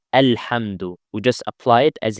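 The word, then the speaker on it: الحمد: The word alhamdu comes at the beginning of the ayah, so we have to apply it. But the second letter is lam, so it's with a fatha. A alhamdu.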